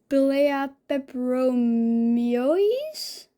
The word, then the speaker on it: Pilea peperomioides: So I think it's pronounced a Pelea peperomioides. Peperomioides.